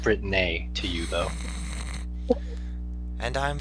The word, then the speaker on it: Britnei: That's pronounced Britnei to you, though.